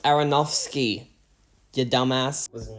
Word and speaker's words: Aronofsky: on many of Darren afronovski's films Aaron ask it is pronounced Aronofsky you dumbass I was